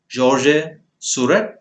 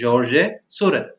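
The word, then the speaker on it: Georges Seurat: painters who imitated this movement are paul gogin georgie surett now even though it's spelt like that it's pronounced as jorge suren vincent van gogh and the eldest of the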